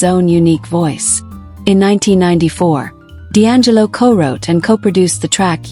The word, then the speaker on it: D'Angelo: By the mid-1990s, Michael Archer adopted the stage name D'Angelo, pronounced D'Angelo, and began shaping a